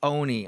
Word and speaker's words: Oni: I was pronouncing Oni Dakini wrong. It's Oni. I know I was saying Ani before.